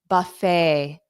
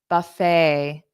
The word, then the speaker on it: buffet: how about this one this is I believe a French word so we don't pronounce it like English pronunciation so the t is